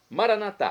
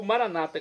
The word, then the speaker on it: Maranatá: Maranatá, como dizemos nós católicos, é do aramaico dialeto de Jesus, ou Maranata, como dizem nossos irmãos separados, os evangélicos ou protestantes. Não importa a pronúncia, o significado é o mesmo.